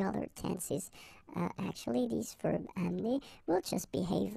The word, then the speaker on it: amène: this little change, and it's only the accent here, accent grave, on the top of this okay? And then it will change, of course, the pronunciation, because you will have this sound open. Amen.